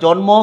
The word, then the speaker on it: জন্ম: ওকে, তাইলে দেখো জন্ম কি লিখবো আমরা, ময়ের উচ্চারণ জন ম।